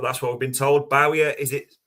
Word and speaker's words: Barcola: completely wrong but that's what we've been told Bowerer is it pronounced but we'll start with Diamande Because with